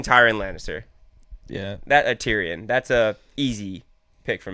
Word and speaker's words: Tyrion: will be taking tyan Lannister yeah that a Tyrion that's a easy pick for me he's no